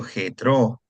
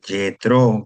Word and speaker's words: Jetro: Y después que eh llega a Lore, pero primero está donde su suegro Jetro o Jetro, como quieran pronunciar ustedes. Eh, en Madián, ah, Moisés apacentaba el rebaño de Jetró, su suegro, quien era sacerdote de Madián.